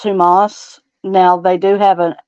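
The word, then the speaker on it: ὑμᾶς: Now, that is pronounced Humas.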